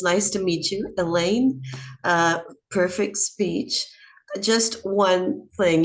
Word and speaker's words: Elaine: So it's nice to meet you, Elaine. Perfect speech. Just one thing, your name here in Brazil is Elani. Pronunciation is pretty different.